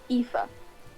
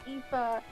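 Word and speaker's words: Aoife: common with the welsh how to pronounce ting is is not how it looks so my character's name is ifa in ireland ifa is basically spelt with four vowels and a consonant the to look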